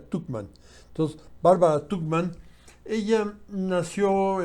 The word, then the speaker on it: Tuchman: Tuchman, creo que se pronuncia Tuchman.